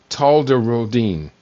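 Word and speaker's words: tolterodine: These are typically anticholinergics like oxybutynin and talderodine, that's how you pronounce it.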